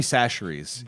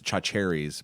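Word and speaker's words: Chachere's: Tony Sacheries is the greatest seasoning of all time. Now, a lot of people mispronounce it as chacheries, but you can go find it in your local store.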